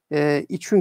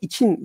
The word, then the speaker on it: için: İçün kelimesi bugün hiçbirimiz içün tarzında telaffuz eden yerler, insanlar biraz daha yaşı itibariyle ileri olanlarda kesinlikle kullananlar var. Veya bilerek isteyerek kullananlar var. Buna hiçbir şey demiyorum. Doğru. Ama genel itibariyle için kelimesi kullanıyoruz.